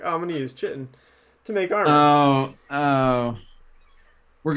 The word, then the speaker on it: chitin: would never be like, oh, I'm gonna use chitin to make armor. Oh. We're gonna get into a disagreement on how to pronounce that word, but that's Okay. okay. I think it's chitin, Oh, you're right.